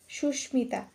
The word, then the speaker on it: সুস্মিতা: এর উচ্চারণ হয় যেমন সুস্মিতা এই সুস্মিতা শব্দটি একটি সংস্কৃত শব্দ তাই এখানে যে মটি রয়েছে ম এর উচ্চারণটা বহাল থাকবে সুস্মিতা তারপর হতে